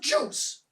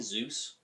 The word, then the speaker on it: Zeus: You're going to have me be revealed as the son of Juice. Don't you mean Zeus? Zeus? Is that how it's pronounced?